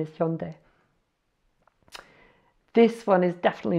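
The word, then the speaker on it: 현대: I believe when I hear English people talk about it, they say Hyundai, something like that, but it looks like the correct pronunciation is Hyundai.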